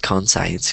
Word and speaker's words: conscience: pronounce these words so it's conscience is like conscience conscience and then the other one is conscious so right now all